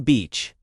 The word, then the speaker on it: beach: Beach and Stretch that vowel in beach. Smile with your mouth.